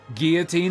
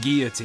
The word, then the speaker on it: guillotine: crank it up with that lever big pumps Guillotine is the correct pronunciation of that word the French head removal device it's pronounced Guillotine you can examine objects in the inventory in